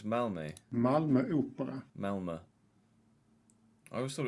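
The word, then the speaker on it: Malmö: Oh, it's Malme. Malma. Melma. I always thought it was Malmu.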